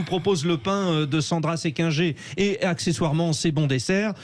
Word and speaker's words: Séquinger: Est-ce que je le prononce bien, Sandra? Est-ce qu'on le prononce comme ça, Séquinger? C'est bien ça, Séquinger.